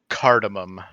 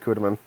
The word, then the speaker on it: cardamom: it in savory food cardamom i was right i mispronounced it though i said cudamen other reasons but cardamom